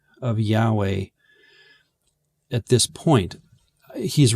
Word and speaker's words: Yahweh: of his deity that's YH wh pronounced Yahweh or Jehovah so he could have